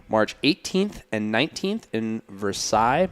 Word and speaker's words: Versailles: It was held March 18th and 19th in Versailles, Missouri, I believe is how you say it. So they say it in France. Yeah.